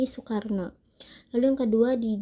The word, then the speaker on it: Soekarno: Yang pertama terdapat Oe yang dibaca menjadi U. Contoh kalimatnya di sini adalah Soekarno yang dibaca menjadi Soekarno.